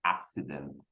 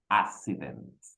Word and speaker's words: accident: I did it and many of us we commit this mistake so often so we say in in instead of the word accident so we say accident we do not respect the pronunciation of the ks so teacher Alfredo welcome